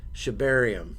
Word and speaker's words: Shibarium: So one of the first things we wanted to talk about was Shibarium.